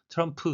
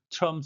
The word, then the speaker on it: Trump: MPS, 이렇게 세 개의 자음이 겹칠 때는 가운데 자음은 발음을 약하게 하거나 생략을 해서 트럼프 says가 아니고 Trump says라고 들리게 됩니다.